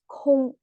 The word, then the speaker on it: 空: a goon and plus this cave symbol pronounced as kung i mean something space